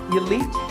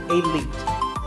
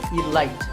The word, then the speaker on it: elite: the word defeat actually there are two correct pronunciation elite and elite those are okay but just don't say alight there's no light now